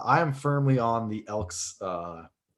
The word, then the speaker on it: Elks: now the edmonton elks yes there is an s at the end and yes that's uh phonetically correct i'm not even sure if the word phonetically is correct but uh the edmonton elks not elk elks and they released a